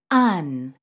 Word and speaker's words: an: An. Be careful with this one because in English it looks like an. It's actually pronounced as un, just like the un in the English word run.